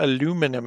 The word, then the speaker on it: aluminium: about right now is aluminium or aluminum as americans say i understand so we're